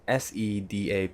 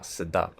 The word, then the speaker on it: Sedap: "Sedap" means delicious "SE-DAP" not pronounced as "SI-DAP" not "SE-DIAP" Please don't say it wrongly.